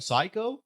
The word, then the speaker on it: psycho: I mean, when I was a kid, like psycho, why is the P there if we're not saying it?